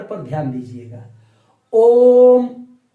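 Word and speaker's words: ओ३म्: ओम, ओम मतलब ओ को हमने कितने बार बोला? तीन बार। तो ओ को तीन बार बोलेंगे, माने ओ का उच्चारण तीन बार, तब जाकर क्या बोलेंगे? म।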